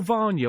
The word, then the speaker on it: Vanya: Uncle Vanya or Vanya? I always said Vanya. You can say either.